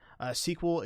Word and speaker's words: SQL: to find different things sql it is pronounced the same way as like a movie sequel or a just a novel sequel but that is your